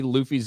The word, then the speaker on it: Luffy: know you don't care but try to say Luffy's name properly it's pronounced Luffy uh have a good day I